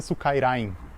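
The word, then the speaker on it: スカイライン: quadrado e Suka porque no japonês Skyline se pronuncia Sukairain, daí ficou Suka.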